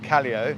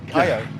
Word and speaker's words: Callao: Like Calio is Cayo. Callao. Callao. Yeah. All you got to do in Spanish is know what the letters sound like and pronounce each one.